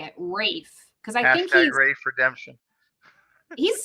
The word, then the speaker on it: Ralph: you say his name they don't pronounce the L they don't pronounce the L um Conan had a